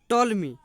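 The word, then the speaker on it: Ptolemy: Toll me. टॉलमी developed the geocentric theory in second century. Second toll me P silent है।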